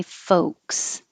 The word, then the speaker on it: folks: Number 7, forget about that L. Just skip it and say folks.